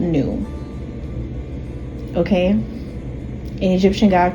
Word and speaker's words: nu: not only is it the N in Greek pronounced nu, it's actually pronounced nu. You don't say in. You know, back then you didn't say in if you were Greek, you would say nu.